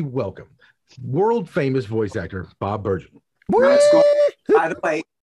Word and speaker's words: Bergen: Please help me welcome world-famous voice actor Bob Bergen.